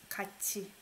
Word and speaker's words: 같이: I pronounce it as ch. 같이.